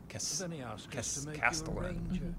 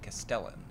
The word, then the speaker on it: castellan: into a man's neck Castellon of house Forrester my uncle wrote to the Nights Watch a big takeaway here is that they say Castellon not castellan if it's a knighthood which is like